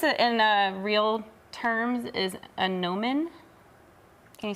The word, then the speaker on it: gnomon: And this, in real terms, is a gnomon. Can you say that? A gnomon? Gnomon. It's spelled like gnome, like gnome is Okay. with a G. The G is silent.